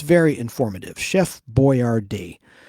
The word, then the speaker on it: Boyardee: Chef Boyardee. And that's not how he spells his name. That's how it's pronounced, the way it's on the can.